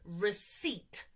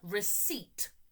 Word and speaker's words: receipt: Receipt. The P is silent. Receipt.